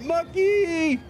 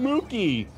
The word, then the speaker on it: Mucky: I got it right, Mucky! I keep calling him Mookie, but it's not, it's Mucky.